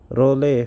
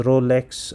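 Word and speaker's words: rouleaux: this is Ray formation rle formation uh do not pronounce it as Rolex Rolex is the singular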